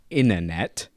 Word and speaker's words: internet: Susie Bean says the first T is silent. It's internet. And then Pause and Petal went, no, you idiot. It's actually not silent. Pause and pedal coming in hot. Really helpful. We don't enunciate the T.